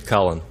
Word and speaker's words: Cullen: Well, Uncle Bill, my last name is Cullen. Cullen? Is that the way it's spelled?